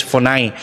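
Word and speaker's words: φωνή: po ay pinoon na fon parang kumbaga sa atin ang spelling parang phone yung cellphone p n o n e Sa transliteration pero ang pronunciation is fon may dalawa siyang kahulugan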